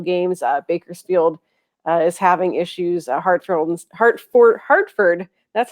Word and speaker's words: Hartford: Hartford, that's how you say it.